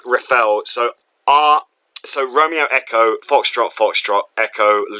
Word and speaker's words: Reffell: Reffel, so that's REFFELL. So that's Romeo Echo Foxtrot Lima Echo. Sorry. E-double-L at the end, so REFFELL. Oh, I'm so okay. So like Reffel.